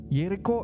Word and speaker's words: Yerikho: 6 Ini kata Eriko yerikho ini berasal dari bahasa Ibrani yerikho yang pelafalannya ini mirip dengan ya Hai Jericho ia reog yang